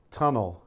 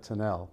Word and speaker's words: Tunnell: who he is and pronounce his name tunnel instead of tinnell but hopefully we're still